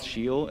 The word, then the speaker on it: Scio: according to Google and Wikipedia it's a it's pronounced shio and it's ex say l stick Latin which